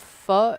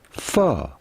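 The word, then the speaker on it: phở: We are looking at how to pronounce in Vietnamese pho. Pho. Pho. Vietnamese soup. Pho. Pho. But the end is more elongated.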